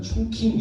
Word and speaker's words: 충칭: 중경이라는 도시 좀 전에 그 트레일러 예고편 잠깐 보셔서 알겠지만 충칭 이렇게 나오잖아요. 중경을 발음 이렇게 하는데 충칭이죠, 충칭.